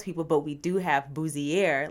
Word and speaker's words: Bouzier: want to mispronounce Boozier. So, Booier. Yes. Like your best French like Booier.